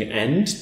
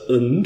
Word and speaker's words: and: So and goes from being ænd to ənd with a schwa and it can go even further and just become n but let's assume we just have a schwa in there ənd.